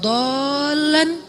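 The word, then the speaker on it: ضالا: Alam yajidaka yatiman fa'awa wa wajadaka dhallan dhal. Kenapa dhal itu kayak panjang bacanya? Karena sesat jauh gitu kan ya.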